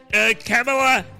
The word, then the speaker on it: Kamala: Under President Biden and Vice President Kamala Harris, because that's how you pronounce her name correctly, the number of unaccompanied